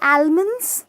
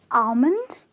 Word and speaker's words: almond: it's tortilla okay and there are no almond it's almond similarly know Salman it's salmon